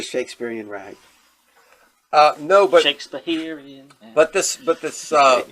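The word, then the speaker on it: Shakespeherian: But in order for it to meet the ragtime rhythm, you need an extra syllable in there. That's why it's the Shakespeareian rag.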